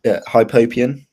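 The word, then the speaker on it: hypopyon: Hypopia, if Alex can jump in, how do I pronounce this? Yeah, hypopian.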